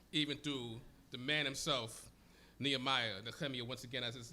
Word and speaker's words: Nehemiah: As we are going into the beginning of the book of Nehemiah, Nehemiah, as it is pronounced in Hebrew.